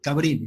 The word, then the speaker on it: Cabrini: ¿Así es, Aide, o estoy pronunciando mal? Cabrini, No, ¿no?